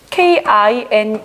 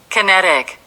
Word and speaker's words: kinetic: K-I-N-E-T-I-C. 선생님은 그냥 그대로 배웠었거든? 카이네틱이라고 읽었었는데 지금까지도 카이네틱이라고 알고 있었는데 발음이 좀 다르더라고. 난 어려워서 자, 발음을 들려주도록 할게. 자, 이거 K-I-N-E-T-I-C입니다. Kinetic.